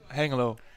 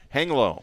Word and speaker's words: Hengelo: How do you pronounce it? Hengelo. Hengelo.